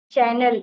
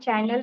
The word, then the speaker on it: channel: Why I'm saying you, because you don't know you don't know few words to pronounce. For example, channel. It's not channel.